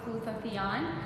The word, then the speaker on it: glutathione: One of the things that I talked with you was glutathione.